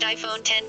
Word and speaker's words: iPhone X: iCulture claims the bezel-less iPhone will be called the iPhone X, pronounced iPhone 10 via a reliable source based on information announced by Apple itself in Cupertino at a meeting on Thursday.